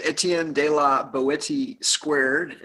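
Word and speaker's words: Etienne de la Boétie: So Let's introduce our guest, or rather, I'm going to have him introduce himself so we pronounce it correctly. Just go ahead, man. Hey, this is Etienne de la Boetie2, and that is obviously a pen name, or maybe not so obviously.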